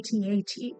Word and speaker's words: AT-AT: I say ATAT. I don't say at.